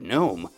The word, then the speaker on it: gnome: The word gnome also comes to mind when you think of silent G, but that's not from Old English.